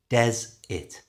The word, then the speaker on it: desert: things desert and dessert to say desert naturally change the e r to an i sound Des it Des it and that's usually a